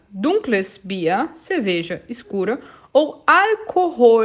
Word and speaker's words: Alkohol: Ou Alkohol, atenção para a pronúncia, olha o L lá no céu da boca, alkoholfreies Bier, que é a cerveja livre de álcool.